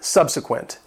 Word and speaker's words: subsequent: Number 23, subsequent. It has 3 syllables and the stress is on the first syllable, subsequent.